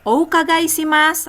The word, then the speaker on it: お伺いします: Irasaimase, o ukagai shimasu. Ayo. Irasaimase okagaishimasu. お願いします。 Irasaimase, o ukagai shimasu. Irasaimasen. Oku guys. Hati-hati ya, pelafalan untuk o ukagai shimasu semuanya harus disebut.